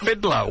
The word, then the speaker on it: Fidler: Richard fidler's phone number Fiddler it's pronounced Fiddler is it yeah I know another